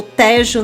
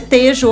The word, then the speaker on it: Tejo: Interior, Lisboa, Tejo ou Tejo, né? Eu vi que tem gente que fala, lá em Portugal mesmo, tem gente que a pronúncia é Tejo, outros falam Tejo, Península de Setúbal, Alentejo ou Alentejo, Algarve, Madeira e Açores.